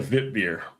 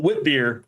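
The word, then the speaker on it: witbier: give you some applause there because you said vit beer and it's like I love when people pronounce the beer stuff the way it's supposed to be. Not whip beer, vitbeer.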